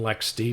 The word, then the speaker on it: LXD: could be an lxc or lxd container otherwise pronounced lexi and lex d properly but i tend to call them lxclxd